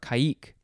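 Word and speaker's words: caïque: You could pronounce it that way, or you could just pronounce it as caique. C-A-I-Q-U-E, and the I has the umlaut, the two dots, kike, or kaik.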